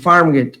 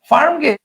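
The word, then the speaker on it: Farmgate: এ আর এম হ্যাঁ এফ এ আর এম জি এ টি ই যদি আমরা এভাবে উচ্চারণ করি যে একচুয়াল বানানোর উচ্চারণ করি তাহলে কি হবে তাহলে উচ্চারণ হবে ফার্ম গেটি so this is নট ফার্ম গেটি this is ফার্ম গেট so definitely এটা হবে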